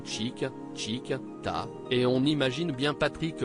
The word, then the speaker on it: tic-tic-tac: La magie opère immédiatement à l'écoute des premiers tic-tic-tac, prononcés chic, chic, ta, et on imagine bien Patrick Bruel remuer son bassin d'avant en arrière comme dans le futur clip.